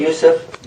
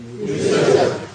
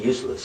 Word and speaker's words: Yusuf: Can you say Yusuf? Yusuf. No, they said it right. How come you keep saying useless?